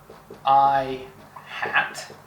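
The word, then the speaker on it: î: the x direction so this thing is pronounced i hat like because it's wearing a little hat and it means that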